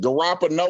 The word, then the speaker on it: Garoppolo: You need to pronounce his name correctly, Terry. It's Garoppolo.